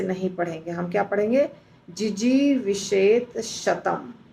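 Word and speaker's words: जिजीविषेत् शतम्: पड़ कुवनेर कर्माणि फिर उसके बाद वाला जो शब्द है जिजी विषत शतम दो शब्द को संधि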